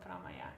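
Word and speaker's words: promaja: I think this is like, again, 3 syllables, promaya. It's not promaya, but promaya.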